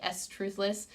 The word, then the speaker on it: Struthless: from, but I love, I think it's like Struthless, I think that's how you pronounce it, but I always call it like S-Truthless, I don't know, but it's Struthless.